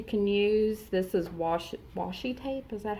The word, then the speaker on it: washi: things that you can use this is wash washi tape is that how you say it yes